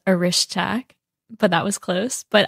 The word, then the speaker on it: Orischak: quite a while and I knew her as or but I've just been told that apparently that's the incorrect way of saying your last name so tell us the correct pronunciation of your last name so my last name is aish tack but that was close